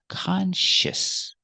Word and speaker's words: conscious: this word is conscious let's look at the pronunciation we have the con for the first syllable and the second Sy is sh it's very similar to this word conscience what's the difference there's no n it's not conscience it's